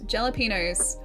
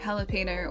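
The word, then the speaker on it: jalapeño: You wouldn't understand that it's a soft J in, you know, jalapeno or for Holly's or fajita.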